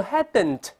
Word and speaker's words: hadn't: 没有读成 hadn't，而读 hadn't，注意舌尖不动，顶住上它 hadn't。